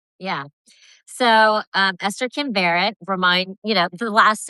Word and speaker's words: Varet: So, um, Esther Kim Barrett remind, you know, the last name is it rhymes with carrot.